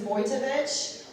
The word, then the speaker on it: Wojtowecz: my last name right my last name is vojevich it's very easy it's polish it's spelled